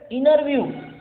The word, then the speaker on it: interview: So we pronounce this word as interview. Interview. We don't pronounce T.